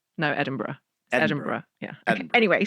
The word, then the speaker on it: Edinburgh: Edinburgh. No, Edinburgh.